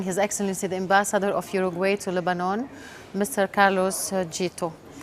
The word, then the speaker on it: Uruguay: Yes, well, Uruguay, in our Spanish language, we pronounce Uruguay, but of course, Uruguay too.